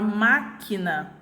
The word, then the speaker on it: máquina: é a sílaba já na palavra máquina eu tenho a minha antepenúltima sílaba o mar por quê porque o pronunciou ela com maior intensidade a sílaba átona